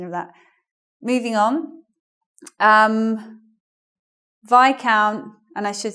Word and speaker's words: Viscount: what they did especially, but we say Viscount even though it's vis here. So we don't say Viscount, that's wrong. It's AI, Viscount.